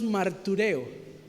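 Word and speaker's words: μαρτυρέω: testificar en el original cuando se escribió la palabra, en el griego se pronuncia más o menos martureo, para que usted entienda, mártir.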